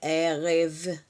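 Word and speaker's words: ערב: Então é erreve, erreve, a gente fala revtov, ok? Boa noite, revtov. Ervtov, revtov, é rev. Então, início da palavra e final, fecho com v.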